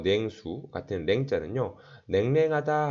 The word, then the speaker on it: 냉랭: 냉랭하다 할 때 냉랭 뒤에 냉랭 랭으로 발음합니다.